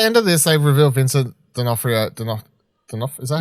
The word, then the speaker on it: Vincent D'Onofrio: Look, if at the end of this they reveal Vincent D'Onofrio, is that how you say his name?